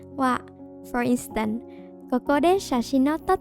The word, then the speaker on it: は: Please note that even though it's reading as ha, it's pronounced as wa.